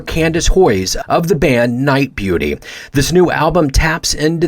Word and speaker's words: Nite Bjuti: her life and music this group pronounced night beauty is a trio of